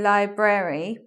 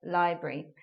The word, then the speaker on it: library: Some people do say library, but because I'm talking about elision today, I'm just mentioning how we're turning a otherwise 3-syllable word into a 2-syllable word, library.